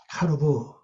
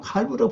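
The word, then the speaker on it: קָרְבוּ: 카르부, 칼부, 아니면 칼부라고 발음하면 됩니다. 칼부.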